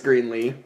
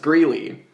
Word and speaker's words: Greeley: Greenlee? Her name was... side note, just as an aside, her name was Mrs. Greeley. And she would get very upset when people would mispronounce her name.